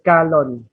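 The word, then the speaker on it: Calonne: Oh, Calon, bacanya Calon. Ke ya, bacanya bukan je tapi ke. Calon. Oke, masih ada lanjutannya lagi?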